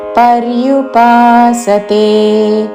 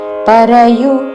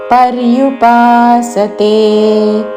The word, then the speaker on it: పర్యుపాసతే: పలికి త్వాం భక్తాస్ త్వాం పర్యుపాసతే పరయు అనకూడదు పక్కన రా కి వద్దు పర్యుపాసతే భక్తా पर्युपासते ये चाप्यक्षर